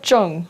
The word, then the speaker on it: Zheng: It's pronounced like Zheng, like Zheng, okay. like with it's kind of like a J, but like Yeah, in yeah. Chinese it's phonetically spelled out Like as a ZH. ZH. Like Yeah. the ZH is like a Zh.